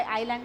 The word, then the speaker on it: island: So, there is an island. What is meant by island? We should not pronounce this word as island, it is island.